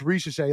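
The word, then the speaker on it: Risacher: with like foreign names, especially when it's spelled as it is with an R-I-C-H, but it's pronounced Ricochet.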